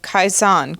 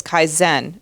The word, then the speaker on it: Kaizen: he loves the Japanese pro uh practice of kaizan continuous Improvement but the word he's looking for is Kaizen Dan and it is pronounced like that kaen yes it's so funny I've only called it kaisan for I don't know 40 50 years um